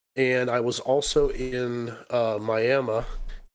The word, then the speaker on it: Miami: I was there a couple times, and I was also in Miami, which is spelled Miami, but they pronounce it Miami.